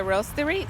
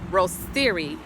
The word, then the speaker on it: Roasterie: right now I'm at the Roasterie in the Crossroads district this is one of the oldest cafes in Kansas City sometimes pronounced Rose theory or rotisserie believe it or not